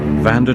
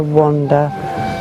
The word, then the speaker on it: Vanda: Vanda drinks to wash out the monsters that mess her mind. Fuck. And everybody gets my name wrong. Vanda they get wrong. I either get Amanda, Sandra, Brenda, Wanda, Veranda.